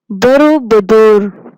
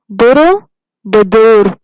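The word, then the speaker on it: Borobudur: फिर इसके बाद दूसरे पिक्चर में है बोरोबुदुर। बोरोबुदुर, pronounce it again, बोरोबुदुर, बोरोबुदुर।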